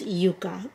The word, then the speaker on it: Yuka: her new Yucca palette in Spanish is Yuka I know a lot of you may pronounce it yaka but the name is